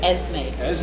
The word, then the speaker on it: Esme: 2019 we had the birth of our granddaughter, Esme. Aaron Sattel, same for beautiful Esme. Never heard of the What a name coincidence. before, but What's the name? I'm getting used to Esme. it. E-S-E-S-M-E, Esme.